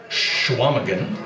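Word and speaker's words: Chequamegon: said one of them, Schwamagan, which looks like Shaquamagan if you spell it out, but it's pronounced Schwamagan.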